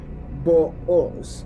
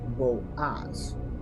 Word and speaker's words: Boaz: According to our ancient Hebrew sages, in reference to the name Boaz, the correct ancient Hebrew pronunciation and transliteration, as evinced by the Septuagint, is actually Booz, not Boaz.